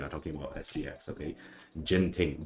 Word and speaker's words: Genting: okay so but um I'll try try to change the the pronounciation okay is is G thing okay not the the Genting but uh okay I'll just go with it since we are talking